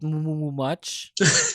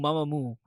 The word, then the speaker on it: Mamamoo: Even at at one point I called it Moomoo much because I didn't know how to pronounce it properly. So I thought it was like Moomoo, Mamamoo.